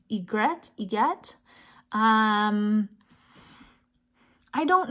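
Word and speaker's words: orgeat: this is a creole I don't know how to pronounce this you get it's o-r-g-e-a-t but I looked it up and I think it's Egret you get um I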